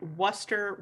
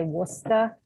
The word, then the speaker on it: Worcester: railers not the whalers you would need a uh native massachusetts person to say worcester correctly for yeah i knew i wasn't gonna say it like super correctly i was just gonna do my best but you got to drop that r i have to uh